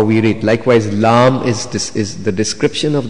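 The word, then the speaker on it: لام: and L and Fa lamb we describe it like Lam alif and me this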